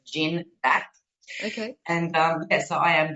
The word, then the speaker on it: Gindac: Some people confuse it and say Gindac, but it's Gindac.